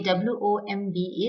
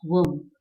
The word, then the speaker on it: womb: In the same way, W-O-M-B is womb, womb and not womb. Tomb, womb. This is a famous saying in English which reads, education starts in the womb and ends in tomb. So womb, tomb both rhyme with each other.